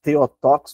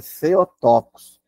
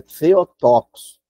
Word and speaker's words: Theotokos: O pessoal se pronuncia Theotokos, mas é Theotokos. No grego, a palavra TH se pronuncia como no inglês, né? Thinks, então é Theotokos, que é portadora de